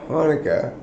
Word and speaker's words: Chanukah: Because they spell it with a CH, Yeah. right? CH doesn't sound like... It sounds like ch. Okay? So just, if you're gonna call it Hanukkah, lose the C.